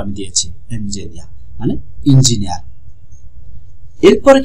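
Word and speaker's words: エンジニア: ভাষা জাপানি ভাষায় এসেছে ইঞ্জিনিয়া, এনজিনিয়া, এই যে উচ্চারণটা আমি দিয়েছি এনজিনিয়া মানে ইঞ্জিনিয়ার।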